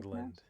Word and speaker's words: Newfoundland: Oh, Uh, Newfoundland. Is it Newfoundland musically inspired? That's how it's supposed to be Newfoundland. pronounced.